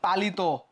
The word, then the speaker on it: পালিত: হয়ে যায় নিয়ম শেষ যেমন পালিত শেষে কি যুক্ত আছে ইত ইত থাকার কারণে এই যে এখানে ওকার হয়ে গেছে চলিত কি যুক্ত আছে